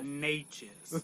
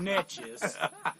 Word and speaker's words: Neches: No, we start at 7, and the proper pronunciation is 30 Port Neches, not Netches.